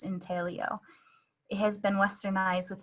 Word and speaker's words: intaglio: etching process itself um intelio is the original italian pronunciation of this process in talio it has been westernized with the g pronounced sometimes to be called integlio it's the same thing